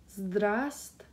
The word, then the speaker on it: Здравствуйте: So здра, it's like you're saying straw, but with a Z sound and D. So yeah, that's fun. Здра, and then you do not pronounce this V right here. So здра. Ствой, ствой, ствой, and then тя. Здравствуйте. Здравствуйте. Здравствуйте.